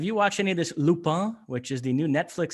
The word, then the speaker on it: Lupin: And it's pronounced Lupin?